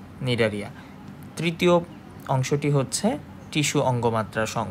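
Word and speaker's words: Cnidaria: এটির নাম হচ্ছে নিডারিয়া। সি দিয়ে শুরু হলেও এর উচ্চারণ নিডারিয়া।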